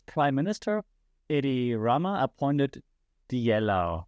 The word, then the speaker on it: Diella: minister Idi Rama appointed the yellow that's my German pronunciation but um a virtual